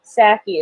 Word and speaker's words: Psaki: The president, or P in Psaki is silent, and P in president is silent too.